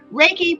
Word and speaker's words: Reiki: Reiki, pronounced is Rei in Ki, meaning universal life energy in Japanese.